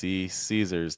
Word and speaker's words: Caesars: E Caesars.